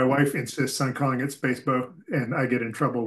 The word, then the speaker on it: SPSFC: I heard Baldwin call it Space Bow. They call it Spacebo, right? Yes, I think that's the emotional favorite is Spacebo, just because the people